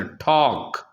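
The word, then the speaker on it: talk: इसी तरह टॉक, के से पहले एल, ये साइलेंट है।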